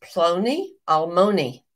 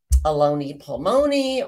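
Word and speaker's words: Ploni Almoni: nearest Kinsmen in scripture in Hebrew it is plony Almony that's the correct pronunciation I said it that way some of the time and other of the time I think I may have said aloni palmoni or who knows what I said some crazy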